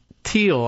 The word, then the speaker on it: Thiel: Inside the powerful Peter Thiel, I guess, I've heard someone pronounce it this way instead of Thiel, as I do with the TH.